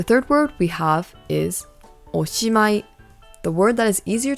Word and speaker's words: おしまい: So once again, this word is pronounced おしまい.